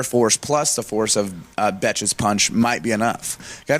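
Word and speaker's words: Bethe: It's So actually pronounced Betch.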